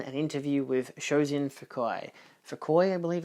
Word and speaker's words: Fukui: Fukui, I believe it's pronounced.